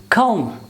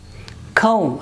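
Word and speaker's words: comb: ma sound this is not pronounced it's kam and again this is not calm i am discussing the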